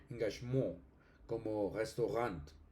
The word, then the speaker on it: Engagement: Y el alemán como tomó préstamo ese tomó ese préstamo lexical, pues eh se mantiene la la pronunciación francesa engagmurant, eso es un préstamo.